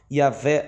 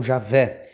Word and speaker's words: Javé: Entretanto, aos poucos, este nome vem sendo substituído pela forma Yahvé ou Javé, que é a pronúncia mais próxima do original.